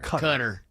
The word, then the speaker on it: Qatar: Cutter. It is pronounced cutter. Just like what people who try to be smart say cons is actually cans. Qatar, the country of Qatar.